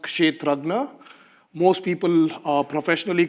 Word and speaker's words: Kshetrajna: So it is pronounced Kshetrajna.